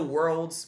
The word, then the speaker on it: world: Você vai juntar a palavra were com a palavra old.